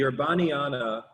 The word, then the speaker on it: Urbaniana: the uh therabani i it's pronounced different ways the urbaniana or the the the urbani orum university is is this university